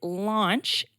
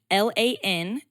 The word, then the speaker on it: Lantzsch: I married into the name, so I learned how to spell it as well. It is Lantzsch, Lantzsch.